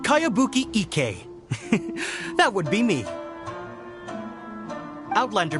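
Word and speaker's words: Kayabuki Ikka: By Kawabunga Iki. Yoimiya, this is a really strange name. Who's this Kawabunga? It's pronounced Kayabuki Ike.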